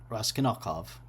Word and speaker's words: Raskolnikov: I completely murdered that uh, that pronunciation. Let me try that again. Uh, Ras- Raskolnikov.